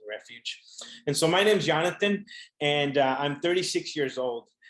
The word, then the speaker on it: Yonathan: Spanish, mi nombre es Yonathan. No Jonathan, pero Jonathan. So if you got that difference, Yonathan in Spanish phonetically is spelled with the Y. Jonathan is spelled with the J.